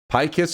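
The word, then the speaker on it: Pykess: Pykiss is right. Usually it's spelled P-Y-K-E-S-S.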